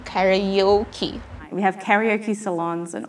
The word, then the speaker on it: karaoke: word is karaoke again you pronounce that as karaoke imagine that there is letter y between a and o so you have to say karayoki we have karaoke salons